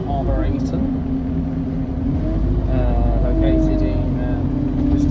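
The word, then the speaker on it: arboretum: I thought it was called Arborton, but it's actually called Arborator.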